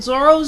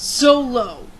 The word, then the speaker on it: Zoro: and they say this character right here in zoro's name is romanized as R O I know